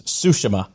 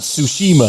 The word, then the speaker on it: Tsushima: how you pronounce it it is sushima not tsushima sushima ghost of tsushima